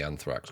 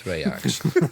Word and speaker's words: Thrax: designer of Amulet of I'm going to say Anthrax because I can never pronounce it. It's Thrax.